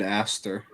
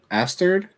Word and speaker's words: Aster: he added an extra D at the end of it. It sounded like. Asterd?